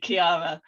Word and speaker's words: Chiara: i named my company because i have to spell it every time because so um on linkedin i'm i'm um sharon greene at kiara consultancy um on twitter i'm sharon g kiara